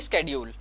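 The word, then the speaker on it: schedule: तो देखिए यहाँ पे मैंने बनाया है प्रोडक्शन पॉसिबिलिटी शेड्यूल। कुछ लोग इसको शेड्यूल भी पढ़ते हैं और कुछ लोग स्केड्यूल भी पढ़ते हैं, दोनों ही प्रोनाउंसिएशन ठीक है। वैसे स्केड्यूल होता है।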